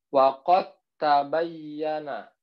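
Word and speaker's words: وَقَدْ تَبَيَّنَ: Dal sukun dimasukkan huruf ta. Dal dengan ta itu sama makrosnya. Gitu ya. Jadi bacanya waqad tabayyana. Ya, bacanya waqad tabayyana. Jadi bukan waqad tabayyana gitu, tapi langsung dimasukkan.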